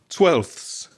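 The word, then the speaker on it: twelfths: If you count them, let's count. We got L 1, F 2, F, three, and S four. When it's the plural, four sounds, four consonant sounds together.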